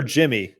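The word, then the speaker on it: Yimi: looked nasty day yeah is it yimy or Jimmy Jimmy Jimmy I don't know they pronounce it kind of like a j that's what he says it is so I should should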